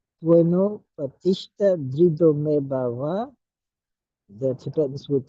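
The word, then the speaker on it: bhava: The Tibetans would pronounce it Teno Patishta Drido Me Bawa. So notice that the VA versus the WA at the end of words, the Tibetans prefer to pronounce the V as a W at the end of words.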